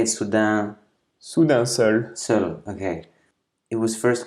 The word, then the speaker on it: Soudain Seul: Soudain Seul.